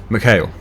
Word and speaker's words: McHale: Now, the recommended brands for any kind of baling equipment has been to get McHale. I believe that is the correct pronunciation.